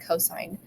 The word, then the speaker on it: cos: So even though it says cos, you don't pronounce it cos, you pronounce it cosine.